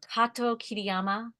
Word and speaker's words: Kato-Kiriyama: In that, there was a time when I was a child where I flattened my name. I did not roll the R.